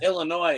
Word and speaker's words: Illinois: But my mom, she's in Illinois, visiting my sister, and she found a set. Awesome. That's Yeah. Look, if you want to pronounce my state with an S at the end, you go right ahead, Steve.